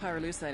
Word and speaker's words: pyrolusite: You know what pyrolusite is, right? Yeah, neither did I. Pyrolusite, key syllable pyro, by the way, is